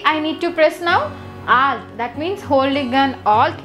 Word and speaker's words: alt: the alt Al is there we should not pronounce it as a t Okay alt okay alt plus p down key is used to move